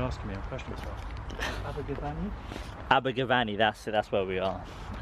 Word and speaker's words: Abergavenny: Abergavenny. That's where we are. I don't want to mispronounce the place where I'm visiting.